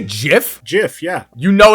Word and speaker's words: GIF: did you say jiff jiff yeah you know it's gif i'm i'm over it i'm not i'm not even starting it no it's not it's jiff we're going to take pronunciation advice from someone that grew up both